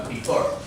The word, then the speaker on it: prefer: On the second syllable, so prefer.